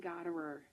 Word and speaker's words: Gothera: Goderer. Gothera. The H messes everybody up, so just ignore the H.